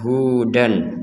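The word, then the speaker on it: هدى: Hudan dibacael jelas nah Kalau digabungkan dengan Au ini digabungkan dengan Hamzah kalau tidak digabungkan maka yang dibaca jelas barusan akan berubah cara bacanya nah cara bacanya sekarang adalah dibaca panjang dua harakat dibaca panjang dua harakat contohnya waqolu kunu Huda jadi dibaca panjang dua harakat Huda yang awalnya Hudan kemudian dibaca Huda dananya itu dua harakat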